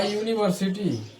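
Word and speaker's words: university: होते हैं वोवेल से लेकिन उसका जो प्रोनंसिएशन होता है साउंड जो निकलता है वो कंसोनेंट का निकलता है जैसे जैसे जैसे example a यूनिवर्सिटी अ यूनिवर्सिटी यहां जो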